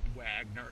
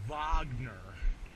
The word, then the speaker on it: Wagner: You gotta say it like you're you gotta say it like it's the classical music. It's not Wagner, it's Wagner.